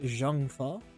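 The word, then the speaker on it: Zheng Fa: I don't remember how they say it in games, but I think it's pronounced Jangfa. Jangfa. Yeah. Sha. Because it's supposed to be like Chinese.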